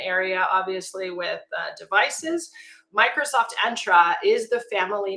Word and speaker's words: Entra: So undertaking that name, Microsoft Entra and I'll also just prop to, it's pronounced Entra like the color magenta or- That's a good way to think about it.